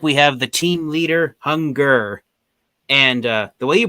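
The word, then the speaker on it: Hun-Gurrr: So the way you pronounce his name, you're supposed to pronounce his name like Hunger.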